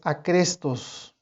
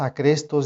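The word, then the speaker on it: ἄχρηστος: Y en la pronunciación en el griego, muchos eruditos dicen que muy probablemente la pronunciación de ambas palabras, acrestos y acristos, la pronunciación era igual.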